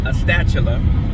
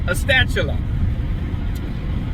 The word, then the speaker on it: Astatula: I call it Astatula because it's spelled A-S-T-A-T-U-L-A. Common sense, Astatula.